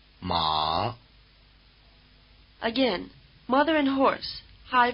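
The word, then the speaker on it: 马: let you locate the extremes list listen ma ma again mother and horse High versus low ma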